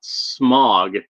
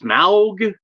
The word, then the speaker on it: Smaug: I always when I read it thought Smog, but like I guess it's Smaug.